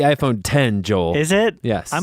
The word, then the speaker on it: iPhone X: Matt Desperately Seeking an iPhone x he it's pronounced the iPhone 10 Joel is it yes I'm going to call it the iPhone x because it doesn't make